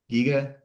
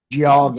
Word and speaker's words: Geauga: Giga? Geauga.